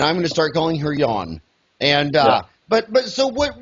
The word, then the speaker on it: Jan: um by the way since it's pronounced yawn but in America it looks like it would be Janice Jay and built